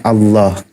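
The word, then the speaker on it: الله: Nah, ketika lafaz Allah lafdul jalal dibacanya tafhim maka ditebalkan Allah.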